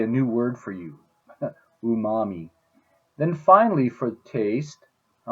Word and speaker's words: umami: but then we have this Japanese word and I think it's pronounced umami umami it basically means delicious